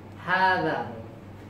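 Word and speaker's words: هذا: You must lengthen hada. Reading time. We pronounce hada. Writing time no alif.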